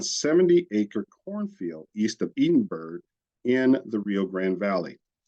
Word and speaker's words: Edinburg: acre cornfield east of Edenberg in the Rio Grand Valley um if uh the the Texas actually pronounced that as Edenberg even though um it was meant to be modeled after Edinburgh in Scotland during the drought conditions